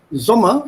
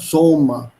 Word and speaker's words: Sommer: Whenever there's a double consonant, the vowel coming before this double consonant is pronounced short. It's Sommer and not Sommer.